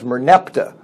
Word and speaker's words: Merneptah: of the Pharaoh be because it's so difficult to pronounce they switch the letters around and is he's typically known as Merneptah but his name is Moran Fattah but we're going with Merneptah because it's easier to